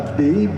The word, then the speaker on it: Bex: Et bon, donc cet avion euh aujourd'hui habite à B, c'est qui s'écrit Bex en bon français, mais les Suisses surtout les valais en disent B.